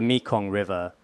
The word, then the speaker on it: Mekong: This river, the Mikong River, did I say it correctly?